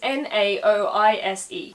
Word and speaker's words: Naoise: You see, the modern spelling is N-A-O-I-S-E, which I would pronounce Naoise because whenever you get a vowel party like that, it usually just becomes an E sound.